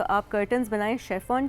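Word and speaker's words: chiffon: I mean English में इट्स शेफॉन, शेफॉन, लेकिन okay. Urdu में इट्स शिफॉन। तो लैंग्वेज तो आपको पता है कि डिफरेंट लैंग्वेजेस में, जिस तरह टर्किश हो गई, उर्दू हो गई, बहुत से वर्ड्स हमारे टर्किश से भी सिमिलर हैं, लेकिन हम उसको प्रोनाउंस थोड़ा डिफरेंट तरह करते हैं। सो वही जिस उसी यानी अगर हम शिफॉन कहें तो वो भी ठीक है, बिल्कुल ठीक है।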